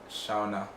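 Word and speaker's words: Seona: names the first interview her name was quite straightforward s-e-o-n-a was the second shauna based on the intro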